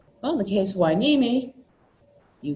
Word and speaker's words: Hueneme: of it that is the naval base Hueneme not an enemy not who neem not house it it's